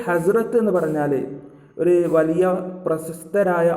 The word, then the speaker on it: حضرت: അപ്പോൾ ഈ ഹസ്രത്ത് എന്ന് പറഞ്ഞാൽ ഒരു വലിയ പ്രശസ്തരായ ആളുകളുടെ മുമ്പിൽ ചേർക്കുന്ന ഒരു പദമാണ് ഉറുദുവിൽ ഹസ്രത്ത് എന്നുള്ളത്. അപ്പോൾ ഹദ്റത്ത് എന്ന് പറയരുത്, ഉറുദുവിൽ ഹസ്രത്ത്, ഒരു ഉച്ചാരണമായിരിക്കും വരിക. ഹസ്രത്ത് ഖദീജ, ഹസ്രത്ത് മുഹമ്മദ്, അങ്ങനെയാണ് ഉച്ചരിക്കേണ്ടത്. ഹസ്രത്ത് മുഹമ്മദ് സല്ലല്ലാഹു അലൈഹി വസല്ലം